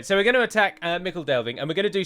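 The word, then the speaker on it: Michel Delving: annoyingly the town that we now know is pronounced as mickel delving has fallen to angma and the shire is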